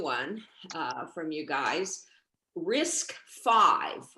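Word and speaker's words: RISC-V: uh from you guys risk five which uh if you just hear it you won't know how it's spelled it's spelled risc hyphen v um what is that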